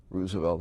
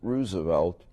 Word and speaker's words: Roosevelt: high school politics at Roosevelt High School on the northwest side of chicago i pronounce it roosevelt rather than roosevelt because it was named after Teddy and I saw one